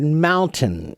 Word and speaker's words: mountain: should be you know if you pronounce it slowly it's mountain mountain but when we say it quickly that that n in the middle almost no one really pronounces that n so it's just mountain mountain mountain so really okay when